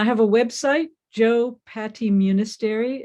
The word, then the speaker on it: Munisteri: x by joe patty munisteri myself and i have a website joe patty munistery it's a long last name it's pronounced like monastery m-u-n-i-s-t-e-r-i dot org joe